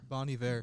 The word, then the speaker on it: Bon Iver: Bon Iver.